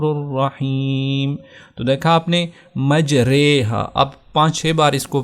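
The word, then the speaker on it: مجراها: تلفظ کیا جائے گا۔ اب ہم اس کا اگر تلاوت کریں تو ہوگا مجریہا۔ اب مجریہا نہیں پڑھیں گے، مجریہا۔ تو یہ پارہ نمبر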